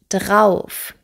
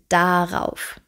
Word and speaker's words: darauf: In vielen Regionen Deutschlands wird das A verschluckt. Wir sagen, ich freue mich schon drauf und nicht darauf. Das ist aber, wie gesagt, regional unterschiedlich.